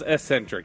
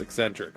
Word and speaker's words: eccentric: right that time no that was Ecentric he's he's trying to say no C there but there is one in there it's eccentric okay that's the way we